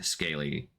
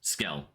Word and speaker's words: Scale: Scale, not scaly.